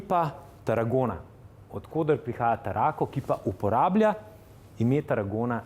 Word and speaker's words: Tarraco: Tarraco is the right pronunciation.